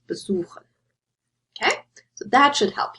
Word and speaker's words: besuchen: So, for example, you have verkaufen to sell or besuchen to visit, and I underlined the word stress here, so you wouldn't say verkaufen or besuchen, you would say verkaufen and besuchen.